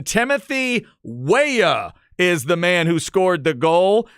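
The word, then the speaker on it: Weah: my man Glenn Davis for help on the pronunciation Timothy waya is the man who scored the goal the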